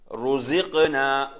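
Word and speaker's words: رزقنا: அதுல வந்து நாங்க கவனிக்க வேண்டியதுதான் காஃப். காஃப் இருக்கிறது. அப்ப அந்த காஃபுக்கு சுக்குன் வருது அந்த இடத்துல. அப்ப நாங்க இது ஓதும் போது ருஸிக்னா ருஸிக்னா. எப்படி? ருஸிக்னா என்ன மாதிரி ஓதும். ஜாவையும் கவனிக்கணும், காஃபையும் கவனிக்கணும். ருஸிக்னா.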